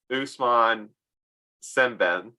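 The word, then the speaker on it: Ousmane Sembène: to move on to mandavi uh directed by Usman sben yeah you did it oh thank God okay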